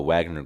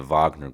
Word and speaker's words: Wagner: Ukraine and Russia and, you know, the the Wagner group or the Vagner group, you know, as it's pronounced.